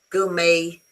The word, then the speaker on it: gourmet: Uh very often French words um like ballet, uh gouet, uh buffet, when they end with a t in English, you forget about the t and you put the sound a.